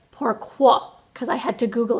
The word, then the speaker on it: pourquoi: so I googled it to see how to pronounce it so my French was wrong yesterday I called it pourquoi today it's pourquoi because I had to google it to see